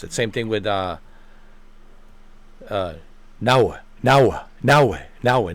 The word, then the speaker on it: Naoe: That's how Japanese pronounce it. Same thing with Naoe.